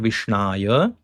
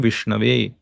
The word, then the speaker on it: विष्णवे: An uneducated person may chant Vishnaya, while a sober person will chant the proper form Vishnave.